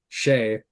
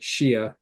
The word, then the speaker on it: Shea: of Shannara series, and the main character on that is Shea, Shea, and I pronounced it Shia because I didn't know what Shea was.